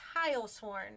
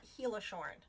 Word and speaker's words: Heilshorn: Krista, if you hear this, it's Heilshorn. It's not Heilshorn.